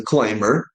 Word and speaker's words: climber: climbing and the person who climbs is a climber. Not climber. It's not climber, it's climber. Climbing. Climb. Yeah. B is silent here.